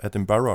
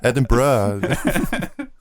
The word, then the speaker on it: Edinburgh: Yeah, and it's pronounced Edinburgh, right? Close. Oh. Close. Yeah, I tried. It's not Edinburgh. It's more like bruh at the end. Ah, okay. Hey, bruh. It's more like that. So Edinburgh.